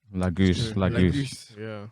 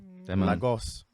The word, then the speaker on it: Lagos: up lagoose said it wrong bro the way americans say lagos is on is uncomfortable man anyway lagos hey uh demi are